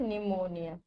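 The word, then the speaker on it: pneumonia: Second is निमोनिया। इसमें P silent होता है, ठीक है।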